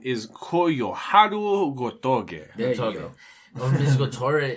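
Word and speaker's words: Koyoharu Gotouge: Gotage. Gotoge. What, do I need to pronounce this? Yes, please. It's her name is Koyoharu Gotoge.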